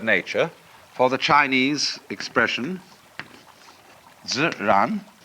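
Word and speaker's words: 自然: We use the word nature for the Chinese expression ziran. They pronounce J like a sort of unrolled R. I mean, that's the scholars did this to confuse you.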